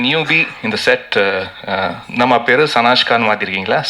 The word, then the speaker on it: Sanashka: அண்ட் இந்த newbie இந்த செட், நம்ம பேர் சனாஷ்கான்னு மாற்றிருக்கீங்களா? சனாஷ்கா, am I pronouncing it right?